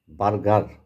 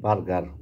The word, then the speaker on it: বার্গার: কাঁঠাল দিয়ে বার্গার, আমরা বলি বার্গার, উনি ওইটা উচ্চারণ দেখেন বর্গার।